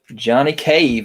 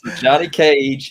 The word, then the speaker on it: Johnny Cage: that fast on that wrath nope nope nope johnny cave almost talisack you want to say it right there you go he got it right johnny cage is one of them and then cabal is